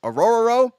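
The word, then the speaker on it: Orhorhoro: nerd was saying this auror row out of Clemson now that is actually how you say it just say a r r r and just that's all you have to do 64 294 r shirt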